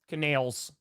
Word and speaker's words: Canales: Canales.